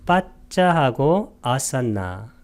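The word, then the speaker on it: paccāsanna: 인식 과정의 끝에서 혹은 생명 연속심이 다할 때 빠짜 산나 마라나산데 빠짜 할 때 이것을 길게 발음한 것은 빠짜하고 아산나.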